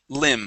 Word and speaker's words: limb: word here is limb the B at the end of the word is silent limb okay limb okay very